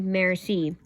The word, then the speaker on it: merci: Merci, thank you in French. You say it like merci.